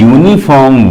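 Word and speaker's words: uniform: क्योंकि यूनिफॉर्म word का जब आप प्रोनाउंसिएशन करते हैं तो यूनिफॉर्म वर्ड को बोलने के लिए सबसे पहले आपको वाई का साउंड निकालना पड़ रहा है।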